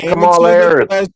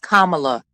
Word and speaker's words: Kamala: We're talking about Camala. Let's stick to the subject. Oh, god damn it, dude. Her name is pronounced Kamala.